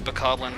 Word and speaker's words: bokoblin: And I said it before, but it is bokoblin to rhyme with goblin.